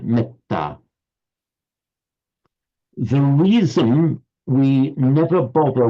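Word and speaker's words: mettā: But take a word like metta, which in Pali, would write M-E-T-T, long A. In Sanskrit, that would be pronounced metta. So the A would have its full vocalic length, even though it's followed by a double consonant. Whereas in Pali, it's pronounced short, metta.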